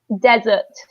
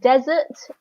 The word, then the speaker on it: desert: the second one is desert okay so in the word desert we stress the first syllable there is another word